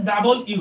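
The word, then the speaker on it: W: ডাব্লিউ বলবে কিন্তু আসলে এটা ডব্লিউ না এটার উচ্চারণ হচ্ছে ডাবল ইউ এই যে শিক্ষার্থীরা দেখো ডাবল ইউ ড আকারে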